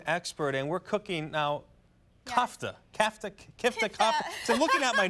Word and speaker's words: kafta: There are many different ways to pronounce it. There's many different ways to spell it. It's, you know, I call it kifta. That's what my family calls tomato, it. Tomato? Yeah, tomato, tomato. Some call it kofta, whatever, you know.